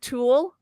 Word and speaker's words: tulle: before in the past I always pronounce this wrong uh is it tulle I'm glad B's not here she's she's gonna see that's tool she's okay oh my